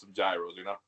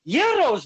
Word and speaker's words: gyros: another and having some gyros. Love it. Wow. Your in-laws are gonna be very angry. They're pronounced gyros, my friend.